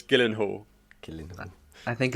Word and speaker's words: Gyllenhaal: too i don't think anybody knows how to pronounce jack gillian who's last name jillian hall's last name i did gyllenhaal it's gyllenhaal killing man i think it's just of course